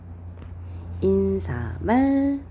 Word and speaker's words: 인사말: 머리말, 인사말. 얘는 그러니까 우리가 평소에 발음을 잘못한다고 생각하시면 돼요. 머릿말, 인사말 이렇게 니은을 덧나게 발음하는 게 표준 발음이 아니고, 얘는 요거 자체가 표준 발음입니다.